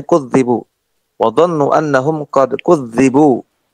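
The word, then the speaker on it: كُذِّبُوا: Al-qira'atul ula, qiraah yang pertama bitasydid, dengan ditasydid. Ai kudzibu. Cara bacanya kudzibu.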